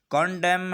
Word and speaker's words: condemn: तो CONDEMN, कंडेम। अब यहाँ पर एम के बाद एन आया है, इसलिए एन को साइलेंट रखा है।